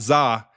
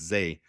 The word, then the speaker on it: Zay: In fact, it's not Za, even though Ryan Poles pronounced his name Za in the press conference several times. It's Zay.